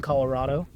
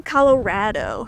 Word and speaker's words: Colorado: Speaking of which, apparently I say it wrong, Colorado. It's supposed to be Colorado. You keep Colorado rad. Yeah. Colorado. That's how it's spelled. Let me in know the comments. Yeah. Do you say Colorado or Colorado? If you say it quick enough, it's just like Colorado.